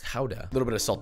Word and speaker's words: Gouda: grams of fresh grated Gouda, or technically it's pronounced Gouda, a little bit of salt to taste, optionally